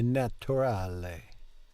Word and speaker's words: naturale: So in Italian we're going to pronounce that U clearly like an U.